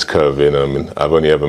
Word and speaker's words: Kervin: uh you know uh nice that you've pronounced my name a bit Yeah but if you get all West ended on it it's curving yeah yeah but uh